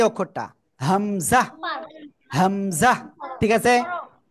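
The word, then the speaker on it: همزة: এরপরে আমরা যে অক্ষরটা এখন শিখতে যাচ্ছি, সবাই দেখেন এই যে অক্ষরটা হামজা, হামজা। ঠিক আছে? কোন জায়গা থেকে উচ্চারণ হয়? গলার শুরু থেকে হামজা।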